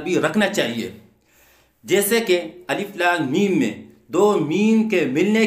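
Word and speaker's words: الم: پس الف لام میم کا تلفظ اس طرح نہیں ہوگا جیسے علم، بلکہ اس طرح ہوگا الف لام میم.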